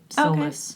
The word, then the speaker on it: solace: And I was pronouncing it Solace, and someone said, it's pronounced Solace. But I was like, oh, I've been pronouncing it like that. Yeah. So if you say Solace, they might think it's Souless without soul. Oh. So you might want to go back to Solace.